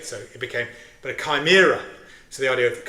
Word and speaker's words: Chimera: I thought, you know, goes nicely with Chime with Club Chimera until I went to Greece and found out that they pronounce a himira.